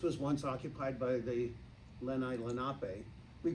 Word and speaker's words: Lenape: of what this was once occupied by the Lenape. We pronounce it Lenape. I taught at Lenape High School for years. We pronounce it Lenape, but the Lenape were here.